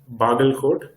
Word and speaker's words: Bagalkot: I wanted to identify what is famous in Bagalkot. Am I pronouncing it correct?